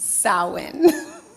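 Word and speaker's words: Samhain: It is the Gaelic pronunciation. So don't try to look at the word. It is pronounced sin.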